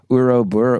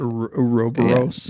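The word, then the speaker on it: ouroboros: loop of creating himself, and so it becomes Uroburo. What's that? Uroburo? I never know how to say it. Uroboros.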